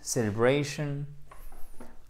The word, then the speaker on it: celebration: Alors, faites bien l'accent tonique ici aussi. Hein? Celebration. Yep, celebration. Period.